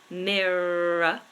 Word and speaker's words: mirror: mirror so of course we pronounced that middle R miror but notice the very final R I haven't pronounced it and this is a really important Rule and a very important lesson for you to learn in English pronunciation when a word ends in e r a r o r even we don't PR pronounce the letter R it becomes awah sound and awah is simply